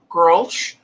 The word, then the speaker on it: Grolsch: If you see this in the import section of your store, grosh or grosh, how do you pronounce that? Grosh. It's Dutch. It's not Czech, the name.